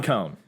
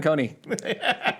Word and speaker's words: Kohne: 10 years yeah Coney yeah we did forever like Coney Island yes and I don't I don't yeah I don't I don't know why we added the e sound but we've been doing